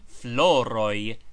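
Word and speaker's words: floroj: Remember that floroi is pronounced as if spelled floroy.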